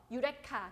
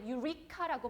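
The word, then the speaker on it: eureka: 유레카. 그렇죠? 유레카. 여러분 유레카를 영어로 뭐라고 발음하는지 아세요? 영어로 유레카라고 하진 않아요. 이거 제가 약간 빠지는 건데 유리카라고 발음하셔야 돼요. 유리카. 유리카.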